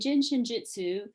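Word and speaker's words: Jin Shin Jyutsu: a tongue twister so we say gin phonetically like a bottle of gin even though it's spelled j-i-n shin you know like your shin bone and then jitsu and jin shinjutsu is japanese for the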